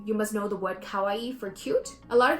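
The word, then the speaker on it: かわいい: For example, you must know the word kawaii for cute.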